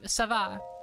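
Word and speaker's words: Sav'aaq: Sava. Eh? Ding, ding, ding! That's right! You really know your slang. The va part is pronounced by biting your lip as you say it. Va.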